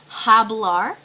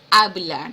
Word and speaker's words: hablar: And remember that H is silent in Spanish. So it's not hablar, it is hablar.